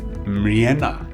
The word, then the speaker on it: Mreana: So it's Marenna. Correct. Got it. Correct. We both we both struggle when we pronounce my surname.